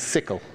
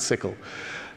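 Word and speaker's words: SYCL: brought out is this thing called after mem pronounces it's sickle because I keep saying it wrong people Excel you know it's pronounced it sickle it's a single source language like CUDA you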